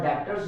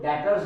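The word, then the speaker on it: debtors: Cash आपका 20,000, stock पड़ा 8,200 का, और डेब्टर्स है, जो डेटर्स है इसमें बी जो है साइलेंट होता है, डेटर्स पढ़ेंगे इसको।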